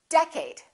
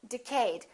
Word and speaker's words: decade: did you say decade is it first syllable or second syllable well it's the first one it's decade repeat in the next decade a lot of people make a mistake and they say decayed let's take a look